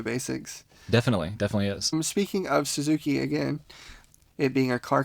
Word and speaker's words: Suzuki: So again, with the word Suzuki, we have the vowels U and I, and it's Su, Zu, Ki.